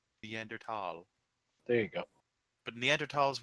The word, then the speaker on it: Neanderthal: that in step two it's neanderthal the h is silent neanderthal there you go but